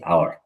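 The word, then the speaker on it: hour: দেখেন, আমি কিন্তু এটা লিখছি আওয়ার, আওয়ার। এটার উচ্চারণ কিন্তু এখানে এটা ভাওয়েল সাউন্ড, সাউন্ড হওয়ার কারণে এটা এন বসছে।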